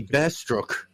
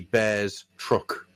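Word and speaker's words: Bearstruck: Is he bearruck or is he bears truck? Bear struck. It's bear struck because that's his curse, isn't it?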